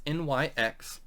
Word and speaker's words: Nyx: lucid dream feasting featuring jess nix or i believe that's how it's pronounced it's nyx and this went as